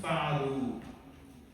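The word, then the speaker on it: فعلوا: Then it becomes hum fa'alu. Fa'alu. Alright, so for this verb, the alif is written, but it's not pronounced.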